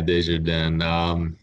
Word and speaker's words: Desjardins: Desjardins? Yeah, Desjardins.